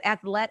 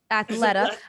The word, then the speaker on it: Athleta: keeping her deal with athlete how do you say that athleta athlete no no snoop athleta i love this [